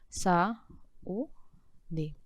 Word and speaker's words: saúde: Sa-u-de. Observe uma coisa. Em única, eu estou acentuando por quê? Qual é a sílaba tônica?